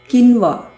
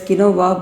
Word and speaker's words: quinoa: Even there is something called quinoa. So you can, people pronounce it as quinoa, but the correct pronunciation is quinoa.